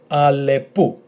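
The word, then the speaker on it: αλεπού: Now, as I said, if the tone is in the second letter, you still pronounce it as u.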